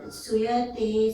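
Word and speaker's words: sūyate: Suyate sacharacharam. Do a long oo.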